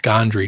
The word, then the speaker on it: Gondry: name again uh michael gondry i think pronounced gondry g-o-n-d-r-y to be able